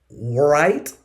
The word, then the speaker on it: write: Right. No, we say right. Right. Right. Right. W is silent.